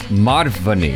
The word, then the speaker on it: Madhvani: Nope. You added an extra syllable.